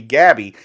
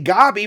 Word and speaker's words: Gabi: that said Gabi is a strange way to pronounce that name. Shouldn't it be Gabby? I say Gabi because that's how they say it in the show.